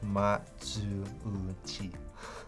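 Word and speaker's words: Matsuuchi: His last name is pronounced like Ma-zu-u-chi.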